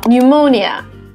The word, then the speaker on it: pneumonia: P is also not pronounced when it comes as a first letter in words followed by consonant, like psycho or psychology or pneumonia.